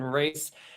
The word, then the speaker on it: Rhys: on LinkedIn it's Rhys try to pronounced like Reese's Peanut Butter Cups not rice if you're trying to